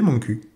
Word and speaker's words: Montcuq: Yes that's it, it's Montcuq! (pronunciation like "My Ass" in French) Made famous by Daniel Prévost and the little reporter, the village is nonetheless pretty, perched on its promontory.